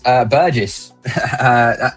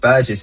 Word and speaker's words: Burgess: Burgess. Just Burgess, man. Like it's a G S there.